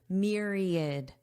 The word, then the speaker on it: myriad: There is no A sound, it's id, id, myriad, myriad.